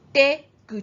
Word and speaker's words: 出口: The first example, exit, it is pronounced 出口, 出口, 出口.